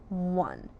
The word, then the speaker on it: one: It technically has two sounds. One w or three sounds. W. But you hear a w an. And that's nowhere how we spell one.